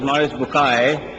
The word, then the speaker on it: Maurice Bucaille: and a scholar of Quran Dr moris buk pronounced as moris bukai I'm a right doctor matter okay uh he's